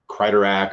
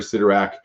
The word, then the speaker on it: Sidorak: The Sidorak, some people say Kryderak or Sidorak. There's different pronunciations of it. I prefer Sidorak.